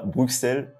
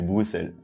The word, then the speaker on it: Bruxelles: évidemment Bruxelles et oui le X prononce ce donc c'est pas Bruxelles c'est Bruxelles le centre-ville est pas